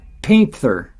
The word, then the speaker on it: panther: My neighbors there kept seeing what they would call a black panther. He pronounced it painther.